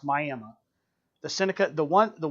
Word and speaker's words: Miami: Old Town spelled like Miami Florida but it's pronounced Miami the Seneca the one the one piece of